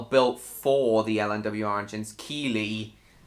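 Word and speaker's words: Keighley: Keeley. Well, I just pronounce it as Keithley.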